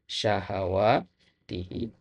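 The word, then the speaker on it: شهواته: Nah, kemudian yang kedua syahawatihi ya, bukan syah ya. Haknya fathah. Ya, syaha ya, syahawatihi.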